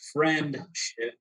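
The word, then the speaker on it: Frenship: I know it's not spelled like friendship. Yeah, FREN. So friendship.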